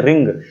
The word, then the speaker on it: wring: अगला देखते हैं रिंग। ऐसे तो WRING बहुत सारे रिंग पढ़ेंगे, लेकिन नहीं, W यहाँ साइलेंट होता है, पढ़ा जाता है रिंग।